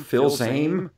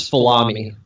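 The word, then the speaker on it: Fils-Aimé: America president Reggie fils-aime pronounce his last name Phil same Phil's I am a I think it's salami follow me I'm not entirely sure Reggie salami as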